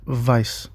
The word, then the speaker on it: Weiss: That is the same reason why names like stern and Weiss are pronounced like that in the English because they just saw it written. Whereas these names should be pronounced and vice because English speakers saw